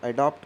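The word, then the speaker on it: adapt: जब pronunciation एडेप्ट का निकले, एडेप्ट, एडेप्ट का मतलब होता है प्रोफिशिएंट मतलब कुशल। और जब निकले एडैप्ट, मतलब एडैप्ट, एडैप्ट, DAPT, एडैप्ट जब निकले तो इसका मतलब क्या होता है, मतलब ढालना, अनुकूल करना।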